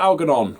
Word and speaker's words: Algernon: In 2nd place is Flowers for Algernon, or Algernon, depending how you like to pronounce it, by Daniel Keyes.